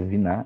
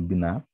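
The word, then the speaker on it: בינה: Perceba aqui que não tem o dagesh, por isso que a pronúncia é viná e não biná.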